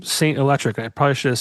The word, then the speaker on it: S8NT ELEKTRIC: Saint is spelled S8NT, and then electric has a K for the first C.